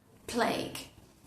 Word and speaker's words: plague: Plague.